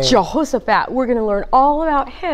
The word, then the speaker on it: Jehoshaphat: That's like five syllables. Jehoshaphat. Oh my goodness. I think it's four. Jehoshaphat. Yep, four. Wow, that's a long name. Jehoshaphat.